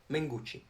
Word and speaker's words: Mengucci: Mengucci. Andrea Mengucci. Basically, do you know Gucci? The brand, the famous brand, comes from Italy. So you pronounce it Gucci. And then just add man to it.